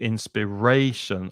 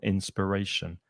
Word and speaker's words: inspiration: And the noun inspiration. But the stress is not on the final syllable, inspiration, on the third syllable, inspiration.